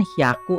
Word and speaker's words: hyaku: Di sini kan hyaku aturan umumnya. Nomor apapun di sini, angka apapun dari 2 sampai 9 kalau ketemu ratusan harusnya dibacanya hyaku si ratusan ini. Tapi kalau ketemu 3, 6, 8 perubahannya beda. Yang 3 jadi b, byaku. Ini kan hya jadi bya sekarang. Kalau yang 6 jadi p, pyaku.